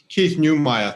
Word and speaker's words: Keith Neumeyer: Keith Neumeyer, thank you.